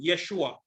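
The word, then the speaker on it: ישוע: It is pronounced Yehoshua, or there's a shortened form, Yeshua.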